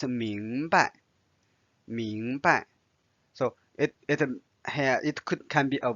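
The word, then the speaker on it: 明白: Notice here there's no tone symbol. So it's 明白.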